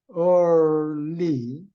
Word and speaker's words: early: 이거 발음을 리을 하나만 하면 안 돼요. 앞에는 리을이고 뒤에는 쌍리을이라고 보면 돼요. early 일찍부터 가르쳤다.